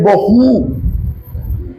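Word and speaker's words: Bohu: El acento en la última sílaba. El espíritu del vacío es boju y el del desorden es Toju.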